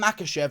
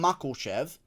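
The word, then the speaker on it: Makhachev: saying it wrong now if everything was according to cheo sonnen islam makashev would be called islam makoshev okay jeremy stephens would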